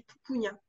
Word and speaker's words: Papunya: Alors moi je le prononce à la française, mais ça se dit Papunya.